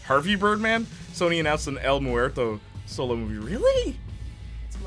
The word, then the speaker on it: El Muerto: that well-known spider-man villain elmore morto el muerto sorry i pronounced it like a french man uh who's been in